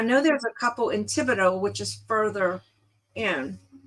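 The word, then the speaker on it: Thibodaux: there's a couple in Tibido which is further in so tiido I like the way that's it doesn't sound like it's spelled but nothing here uh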